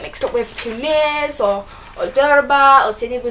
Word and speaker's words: Djerba: and Jewish headquarters of it's spelt D-G-E-R-B-A, so you might want to pronounce it the Djerba, but it's not, it's Derba.